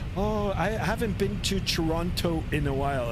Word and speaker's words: Toronto: Uh if you're a local it's Toronto. Toronto. It's like there's no second tea. It's just Toronto.